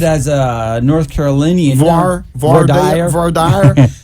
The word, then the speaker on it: voir dire: as a North Carolinian, voir dire. It's voir like dire. my cousin Vinny.